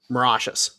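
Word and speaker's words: Mauritius: base in the Indian Ocean to uh Marishas. Morocious. Morashes.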